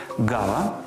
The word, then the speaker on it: ґава: г Із звуком Ґ назву найуживаніші запам'ятайте їх гава грунт агрус ґнок ґдзик ґгнути грати гуля і